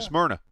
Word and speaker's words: Smyrna: super late model and how you say it new smeara new schmeyer smyrna like the drink smyrna smyrna um was with